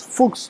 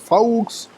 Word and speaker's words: Foux: Yes, you pronounce Fuchs, not Fox, not Faux, and of course not Fox.